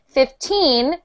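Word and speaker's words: fifteen: this 50 50 50 if we're saying 15 we put the stress on teen okay so when you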